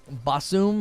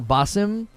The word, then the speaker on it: Basim: I understand that she pronounced it Basum or Basim, but they said Basim during the broadcast.